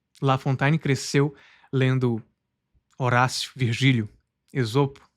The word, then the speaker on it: La Fontaine: Estou falando tanto o nome La Fontain e francês como a pronúncia portuguesa. Estou trocando as duas. La Fontain e La Fontain.